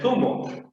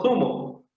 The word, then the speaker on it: zumo: Pero a nivel general, sí, David, a nivel general se deben pronunciar diferentes, pues. Porque uno es sumo, otro es zumo. Sumo, zumo.